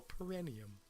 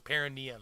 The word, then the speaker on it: perineum: want to get technical perennium perineum that's right i'm pronouncing it wrong perineum right anyways now that